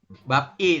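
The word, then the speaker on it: 밥이: Anda membacanya begini ya Jadi anda membaca yang benar itu seperti ini ba bi pemenggalan kalimatnya bukan di sini bukan di BAB tapi ba terus biabnya naik ke sini oke Naik Ke maka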